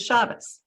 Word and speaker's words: shabbos: become part of yiddish they're pronounced the ashkenazi way and they remain pretty much on touch for example shabbos is shabbos when i grew up